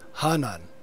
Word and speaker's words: Hanan: More correctly pronounced, Hanan means upper in Quechua.